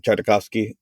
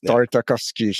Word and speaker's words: Tartakovsky: sorry Hector that's a jendi tarov I can't pronounce this last name tartakovsky yeah yes tartakovsky yes have you watched Primal no you know